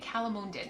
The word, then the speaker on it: calamondin: Calamonden.